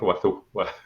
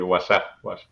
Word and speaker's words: Wazuh: Bueno, hicimos varias encuestas y mira, elegimos Wazoo. Pero luego los americanos empezaron a decir WhatsApp. Así que pues era WhatsApp.